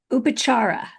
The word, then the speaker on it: Upacharah: Your business name, you have an interesting business name, Upacharah. Did I say it right? Yes, you're right.